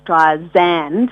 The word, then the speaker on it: Streisand: Like Barbara always was frustrated that people would pronounce her name Barbra Streisand with a Z, when it's sand, like sand on the beach.